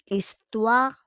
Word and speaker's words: histoire: C'est une histoire fausse. C'est une histoire fausse. Because on prononce pas le H. We don't pronounce the H in histoire, no?